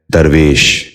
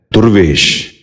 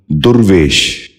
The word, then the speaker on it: درویش: غور سے سنیے، درود۔ آٹھواں لفظ ہے درویش۔ یہ غلط تلفظ ہے، درست تلفظ ہے درویش۔ دوبارہ سنیے، درویش۔ بچوں آپ بھی غور